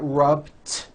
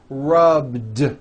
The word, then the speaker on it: rubbed: So for example, the word rub ends with a voiced B. Rub. Today I rub. Yesterday I rubbed. All I did was add a voiced D sound at the end. Rubbed. It's not rubbed with an unvoiced T. It's rubbed, like that.